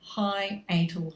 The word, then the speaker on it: hiatal: weird term i know high atal hernia it's spelt how it sounds and this is basically